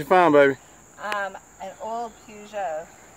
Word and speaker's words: Peugeot: An old Peugeot. Puget. That's the West Virginia pronunciation.